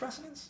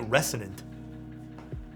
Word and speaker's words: Resonance: Is it pronounced Resonance? Yeah, Resonance. I keep calling it Resonant.